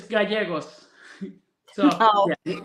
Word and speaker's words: Gallegos: Well, we welcome Gallegos. Did I pronounce it right? Yeah, it's good. It's Gallegos.